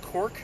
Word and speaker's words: Cork: up and Ireland was called cork like you cork a bottle so again one syllable answer there and obviously if